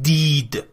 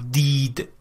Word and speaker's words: did: خب من این نکترم در مورد تلفظ کلمه did بگم. اگه خاطرتون باشه ما حرف آی رو صدای کوتاهش رو گفتیم، گفتیم خیلی نزدیک به ای هستش. خب مثلا میگفتیم که it is یا مثلا this is و این هم همینه. نمیگیم دید، ببین نمیگم دید، میگم دید، دید. و این نکته رو از نظر تلفظی تو ذهنتون داشته باشین.